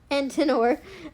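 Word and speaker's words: Antenor: Son of Antiner. Ant. No. Antinor.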